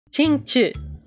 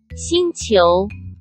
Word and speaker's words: Xingqiu: Xingqiu! I researched it, okay? I researched how to say it, okay? Now you can shut up. Xingqiu.